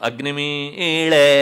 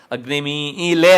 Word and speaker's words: ಅಗ್ನಿಮೀಳೆ: ಉಚ್ಚಾರಣೆ ಉಂಟು ಋಗ್ವೇದದಲ್ಲೂ ಉಂಟು ಅಗ್ನಿಮೀಳೆ ಅಂತನ ಹೇಳಬೇಕು ಅಷ್ಟೇ ಹೊರತು ಅಗ್ನಿಮೀಲೆ ಅಂತ ಕಾರ ಹೇಳಬಾರದು ಹಾಗಾಗಿ ಆ ಅಕ್ಷರವನ್ನು ಇರಿಸಿಕೊಂಡರೆ